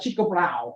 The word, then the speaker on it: Tycho Brahe: So Tycho Brahe, as the Danes tell me to pronounce it, or Tycho, observing 1572, and the etching I'm sure everybody's familiar with.